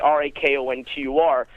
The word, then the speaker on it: Raconteur: People look for the tricks or the shortcuts, and our company, we named our company Raconteur, phonetically, Rakontur, because, it's a French word that means one who tells stories with skill, and that's what we wanted to do.